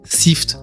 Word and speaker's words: SYFT: Ça se prononce sift comme to sift qui veut dire filtrer.